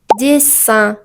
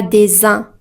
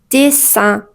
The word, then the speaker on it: dessin: Quand nous avons deux S entre deux voyelles, cette lettre se prononce comme S, pas Z. Par exemple, on dit dessin, pas dessin, mais dessin.